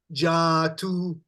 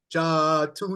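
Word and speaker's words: जातु: So we've got Jatu. Jatu. Yeah. Now, normally we would say it like this. Nativaham jatu nasam. See, we say it like this, you see. The proper pronunciation, Nativaham jatu nasam. Go ahead.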